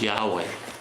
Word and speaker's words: Yahweh: This is pronounced Yahweh. Yeah. Yahweh said to Abraham, To Abram, actually.